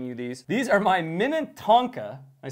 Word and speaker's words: Minnetonka: These are my Minnetonka. I say it right? Yes. Okay, that sounds about right. Minnetonka.